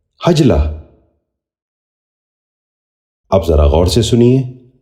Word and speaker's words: حجلہ: نشین کر لیجئے، حماقت۔ ساتواں لفظ ہے حجلہ۔ یہ غلط تلفظ ہے، اس لفظ کا درست تلفظ ہے حجلہ۔ اب ذرا غور سے سنیے، حجلہ۔ بچوں آپ بھی غور سے سنیے، حجلہ۔ آٹھواں لفظ ہے حسنہ۔